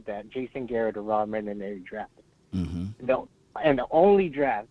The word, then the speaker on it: Marinelli: Because I went over what we kind of like effed up in a way with Jason Garrett and Rod Marinelli. How do you pronounce his name?